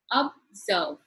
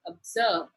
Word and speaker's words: observe: Let us look at the word observe. Observe. Two syllable. It is in the second syllable that the stressed is given that is observe.